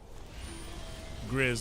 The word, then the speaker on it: Grizz: Grizz like Grizzly, got it.